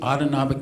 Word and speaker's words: autonomic: But at the same time, there's what we refer to as the autonomic nervous system. Autonomic rhymes with automatic.